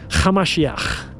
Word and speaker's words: Hamashiach: His real name was Yeshua, Hamashiach. That's how you pronounce it in Aramaic.